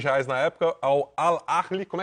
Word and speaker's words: Al Ahly: reais na época, ao Al Ahly, como é que pronuncia isso daí, Pedro? Ao Ahly. Al Ahly mesmo, dos Emirados Árabes. Tem que arranhar o H.